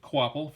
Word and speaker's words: Kvapil: Yes, it's pronounced Kvapil for those of you who are not quite sure.